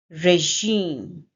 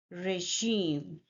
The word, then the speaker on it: regime: That's the second syllable and we stress this syllable. And in the end, m sound and e here is silent. Regime. Say it with me. Regime. Regime.